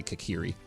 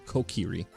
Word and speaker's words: Kokiri: I see Fragment says the Kokiri, I always say it wrong, I say Kakiri, but it's Kokiri, which I learned from